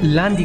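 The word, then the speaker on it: لاندی: ज़ुबान है पश्तो उसमें लांदी कहा जाता है, तो उर्दू में भी उसकी प्रोनाउंसिएशन इसी तरह ही होती है, उसको लांदी कहा जाता है।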